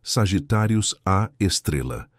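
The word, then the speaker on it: Sagittarius A*: Lá, invisível aos olhos humanos, mas dominando gravitacionalmente toda a região central da galáxia, reside Sagitárius a pronunciado Sagitárius a Estrela, o buraco negro super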